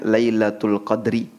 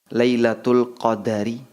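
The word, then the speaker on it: ليلة القدر: Baik, tentang lailatul qadar secara bahasa ada dua cara penyebutan. Bisa dibaca dengan huruf dalnya disukun. Jadi bacanya lailatul qadri. Bisa juga dibaca dengan huruf dalnya di fathah, lailatul qadari. Anda bisa baca lailatul qadri, bisa juga Anda baca lailatul qadari.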